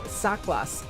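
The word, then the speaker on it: Saklas: Here's the Dao uh Sak Saklos. It's um it's spelled S A K L L A S.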